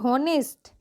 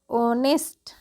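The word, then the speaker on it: honest: आ देखिए अगला है एच ओ एन ई एस टी इसको क्या पढ़ेंगे नेस्ट जी नहीं इसको हम पढ़ते हैं ऑनेस्ट ऑनेस्ट क्या पढ़ते हैं ऑनेस्ट ठीक है ऑनेस्ट ऑनेस्ट का उच्चारण कर ओ पढ़ेंगे एच का उच्चारण ओ होगा उसी तरीके से है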